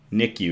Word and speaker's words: NICU: So, NICU is how it's pronounced in a hospital.